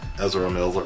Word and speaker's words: Ezra Miller: say his name eer Miller right EZ Miller Ezra Miller right which is phenomenal young actor and I